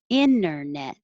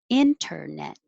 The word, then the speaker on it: internet: of saying inter net which you can both ways are totally fine without the it without the t internet with the t internet number 10 ensemble ensemble